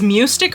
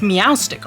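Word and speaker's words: Meowstic: or Meow STI Arts I keep pronouncing it as MTI Arts but it's meow stick Arts my goodness get the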